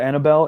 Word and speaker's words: Annabelle: Normally Bell would be B-E-L-L, but this one having an E at the end, it's just silent because it's a name.